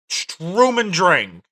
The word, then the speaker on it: Sturm und Drang: I believe that's how you pronounce it. It is a German word or German phrase, sorry. It is a German phrase.